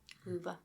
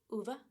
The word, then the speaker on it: Ove: The pronunciation officially is UVA. Uva. Yeah, that makes sense. But I'm gonna keep saying a fine. That's fine. It's ova.